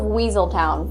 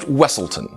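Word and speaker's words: Weselton: bet you didn't guess it's the Duke of weaseltown from Frozen uh it's pronounced wesselton you know he does look very similar to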